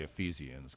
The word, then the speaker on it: Ephesians Prysock: His name is, I'm going to guess on the pronunciation, Ephesians Prysock. Well, it's definitely Ephesians because that's a book in the Bible.